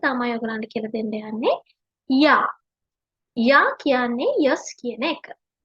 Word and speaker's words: Ja: J අකුර අපි pronounce කරන්නේ ය sound එකෙන්. ජර්මන් වල ඒ විදිහට තමයි pronounce කරන්නේ J අකුර. ඒ නිසා අපි යා කියලා කියනවා.